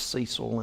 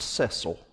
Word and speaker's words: Cecil: I've heard it pronounced Cecil and I've heard it pronounced Cecil B DeMille he was talking one